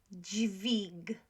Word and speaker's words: dźwig: Dźwig, dźwig, dźwig. So, although we haven't gone through all consonants yet, W in Polish is pronounced always as V.